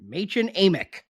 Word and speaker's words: Madchen Amick: Yep, that's how you pronounce it. Madchen Amick.